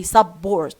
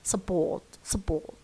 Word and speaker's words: support: Strong pronunciation could have for example support. Here what do you hear more? Support. How about it turns into schwa. So support. Don't say support, you say support.